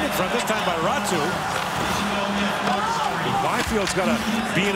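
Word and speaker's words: Räty: Ratu back with it. You may notice how it's spelled, R-A-T-Y. In Finnish, it's pronounced Ratu.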